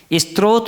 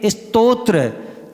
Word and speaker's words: स्तोत्र: स्त्रोत बोलते हैं। जब क्या बोलना चाहिए? स्तोत्र ता पहले है उत्तरा क्या है? बाद में है। स्तोत्र यानी हमारी रक्षा करने वाला। तो इस प्रकार से ये शुद्ध उच्चारण होना चाहिए।